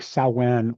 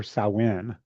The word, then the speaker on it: Samhain: Samhain is pronounced like Samhain or Samhain. The reason it is pronounced so different than it is spelled is because the word is actually Irish Gaelic, which uses the English alphabet but has drastically different pronunciations.